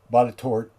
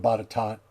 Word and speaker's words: Botetourt: You can always tell when somebody's not from somewhere when they start saying words like Staunton instead of Stanton, Botetourt instead of Botetot, Beaufort instead of Beaufort,